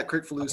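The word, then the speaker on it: Kricfalusi: Yeah, Crickfalucci. Okay. Yeah, Thank you. Yeah. But I never did learn to pronounce that.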